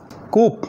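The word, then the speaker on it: coup: बट पढ़ने हैं आमद कुक यानी विद्रोह बगावत लिखने हैं सी ओ यू पी बट पढ़ने हैं विद्रोह मिलिट्री कप हो गया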